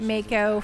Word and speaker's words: Mako: I pronounced it Mako for so long.